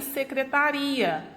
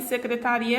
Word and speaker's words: secretaria: Se eu mudar a acentuação aqui gráfica, né? Se eu retirar essa acentuação gráfica e você observa que a sílaba tônica ela muda de posição, há uma mudança também de significado, porque secretária é uma coisa e secretaria é outra.